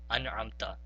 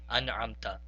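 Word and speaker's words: أَنْعَمْتَ: Now, whenever we see a nun sakin that is followed by any of the huruf halki, then we have to do the izhar, meaning then we have to pronounce it very clearly without prolonging the sound. So this first example of an'amta would be simply pronounced as an'amta. And again, an'amta.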